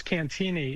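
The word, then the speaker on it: Cantigny: It's Cantini. It's a silent G. It's a French pronunciation.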